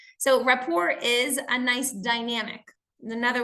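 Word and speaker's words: rapport: look at is building raor so building raor I know it's a French word but we actually use this with the sameish uh pronunciation in English so raor is a nice Dynamic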